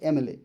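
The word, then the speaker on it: MLA: এম এল এ এম এল এ। এ উচ্চারণটা কিরকম হচ্ছে? এ এম এল এম উচ্চারণটা কি রকম হচ্ছে? ভাওলের মত। এম এম এ ই আই ও ইউ তাহলে ভাউলের মত হচ্ছে তো ভাওলের মত যেহেতু হচ্ছে তাই হবে এন my uncle is এন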